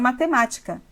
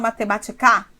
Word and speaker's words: matemática: palavra com várias sílabas a palavra matemática mas você sabe que sílaba tônica só pode ter uma das três últimas e a minha pergunta é olhando para as três últimas você pode dizer você fala mathematicar não bom então não é